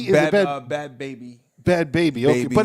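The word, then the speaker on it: Bhabie: Bad, and I don't even know, is it Bad Barbie? Is it Bad Bobby? Is it Bad Baby? Bad Baby. Okay, Baby, but it's spelled like that.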